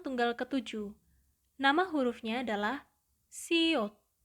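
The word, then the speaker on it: 시옷: Konsonan tunggal ke-7, nama hurufnya adalah siot, siot, siot. Bunyinya atau pelafalannya mendekati huruf alfabet S, sehingga bunyinya adalah se, se, se, se.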